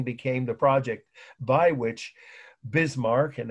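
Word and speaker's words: Bismarck: the project by which bismar and it's pretty much just like it sounds bismar b i s m a r k but you don't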